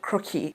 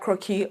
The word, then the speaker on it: croquis: So with Sketchbook, what we used to do back then is there's this thing called 12-head croquis. Croquis is a French word for sketch, scribble, right? So it's spelled CROQUIS.